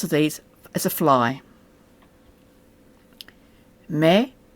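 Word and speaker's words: méh: you'll find lots of these as a fly May B what's interesting about May is that the H does is not pronounced unless there's something after it so may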